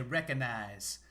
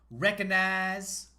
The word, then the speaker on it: recognize: it when people say recognize recognize i think you don't really need to say the g in there there's some words where